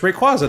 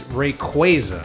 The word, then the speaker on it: Rayquaza: You think it's just Rayquaza the way it's spelled. And then you figure out the name comes from Quasar, so it's Rayquaza.